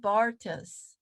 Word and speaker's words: Barthes: But your love of literature and Roland Barthes, is that how you say his name?